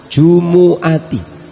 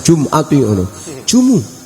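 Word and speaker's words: جُمُعَةِ: Jumu'ah, Jumat, 'jumu'ati' dibaca di rumah, anak itu membacanya sebagai 'jumati', tanyakan pada seseorang yang telah menghafal Al-Quran .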